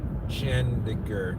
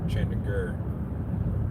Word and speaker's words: Chandigarh: Chandigarh. I'm trying to do it the way it would phonetically be done in English. So it's not Gar, it's Gur. Chandigarh.